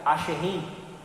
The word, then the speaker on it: Asherim: Do hebraico se pronuncia Asherim, colunas de madeira representando a deusa Aserá, tá?